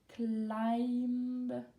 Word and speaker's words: climb: Remember pronunciation I. Hike, climb. Don't forget the B.